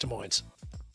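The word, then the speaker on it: Des Moines: This Friday we will be at Wellman's rooftop in West De Moines. As we all know, this is silent.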